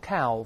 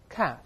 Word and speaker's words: calf: 我们把这词大声先读一遍 calf，不要读 calf，那个 L 不发音的，再来一遍 calf，英国人读成 calf，发 R 的声音。